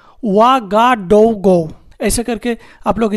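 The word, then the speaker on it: Ouagadougou: इसका कैपिटल है OUA, वा, GA, गा, DOU, डो, GOU, गो, वा, गा, डो, गो। ऐसे करके आप लोग स्पेलिंग करिएगा, OUA, GA, DOU, GOU।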